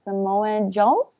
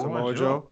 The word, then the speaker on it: Samoa Joe: I'm gonna pronounce his name wrong. Samoan Joe. Joe. Samoa Joe.